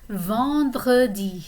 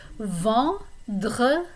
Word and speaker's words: vendredi: And Friday is vendredi. So there you have a nice R sound in the middle. Vendredi.